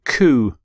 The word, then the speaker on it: coup: overthrow the previous government the word actually comes from the French phrase coup d'etat coup d'etat so for